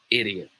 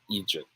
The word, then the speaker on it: idiot: pronounce this word bam it should be pronounced as idiot all right so in this sentence man do i sound like an idiot idiot not egypt okay good good good